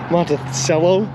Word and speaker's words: Monticello: up monticello indiana and they showed corrupt pronunciation is with an s monta cello that's so gross and